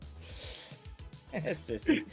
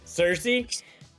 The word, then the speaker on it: Cersei: I don't know how to say her name, right? Sissy. Cersei? Yeah, Cersei. The Eternals, right?